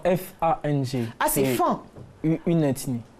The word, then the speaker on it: Fang: Le G ne se prononce pas.